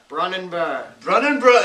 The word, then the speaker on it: Brunanburh: He accompanied them on multiple occasions, including the famous battle of Brunabruch. I believe... Brunabruch? Yes. Brunabruch? Go. Where the knights assaulted the Saxon king. How's that pronounced? Athelstan? Athelstan. Brunanburh.